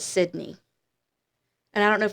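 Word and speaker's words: Sidna: And then Jeremiah, his middle name was Sydney, but it's spelled Si D N A, but it's pronounced as Sydney.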